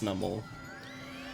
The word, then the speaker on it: Numel: So it's Numel and not Numel.